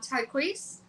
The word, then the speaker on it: Tyquece: little bit about um tqu I hope I'm pronouncing that right am I saying that right yes you are okay okay awesome so